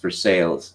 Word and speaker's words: Versailles: of academic performance yes Versailles Kentucky is pronounced for sales yes as I said